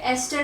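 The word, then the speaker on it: ester: तो ये क्या होता है हमारे पास, ईस्टर हम इसे कहते हैं, ये एस्टर भी लोग प्रोनाउंस करते हैं।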